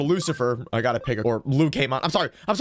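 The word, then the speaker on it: Lucemon: It's not Lucamon, it is Lucamon, as in Lucifer. I can explain.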